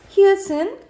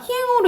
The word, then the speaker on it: 히읗: 디귿 지읒, 치읒, 티읒, 히읗은 디귿으로 발음나요. 디귿으로 발음나는 게 가장 많아요. 그래서 각각 솥, 옷, 입, 젖, 꽃, 히읗이에요. 여러분 히읗이야. 희행으로 읽는 사람 많은데 히읗이에요. 히읗.